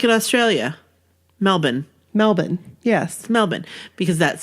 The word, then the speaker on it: Melbourne: Graceland like one word Graceland like in Australia Melbourne Melbourne yes Melbourne because that's like there that's